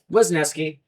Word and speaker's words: Wesneski: Yeah, Wesneski.